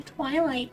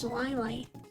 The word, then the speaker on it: Zwilight: People call me Twilight because they don't know how to pronounce Zwilight. I'm like, it's just a Z. It's not that hard to pronounce.